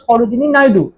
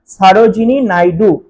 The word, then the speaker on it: Sarojini Naidu: ভুল যায় সেটা হলো বাংলাতে আমরা যখন ইতিহাস পড়েছিলাম তখন উচ্চারণ করেছিলাম সরোজিনী নায়ডু আমাদের উচ্চারণের দিক থেকে ইংরেজি ওয়ার্ডটা হতে পারে এসও আর ও জে আই এনই কিন্তু ইংলিশ যখন আমি উচ্চারণ করব বা ইংলিশে যখন লিখবো তখন কি হবে ব্যাপারটা সারজিনি নাইডু সার এস এ আর